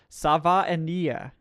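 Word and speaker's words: Savaiinaea: All right, Painful Quandary says his Maori best mate tells him it's pronounced Savaiania.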